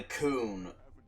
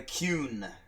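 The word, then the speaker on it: Qun: Man, you learn a lot about the coon. The Kuhn. Sorry, I gotta pronounce that correctly.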